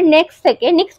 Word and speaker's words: NYX: বাট এই সময় আমার কখন ডাউট লেগেছিল, একটা এত বড় নেক্সট কোম্পানি, লস অ্যাঞ্জেলেসের ব্র্যান্ড, এটাই আমাদের এখানকারও ব্র্যান্ড